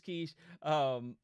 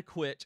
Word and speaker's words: quiche: So that I see Quiche. Quiche, yes, it's Quiche. It's not a quitch.